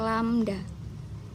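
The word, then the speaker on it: lambda: lihat sendiri ini kalau ada tanda begini ya ini dibacanya lamda oke Hai jadi kayak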